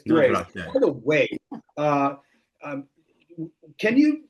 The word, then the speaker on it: Grace: Welcome back to Wine Time Fridays with Shelley and Phil and Daniel Grace, not Grace. It's Grace.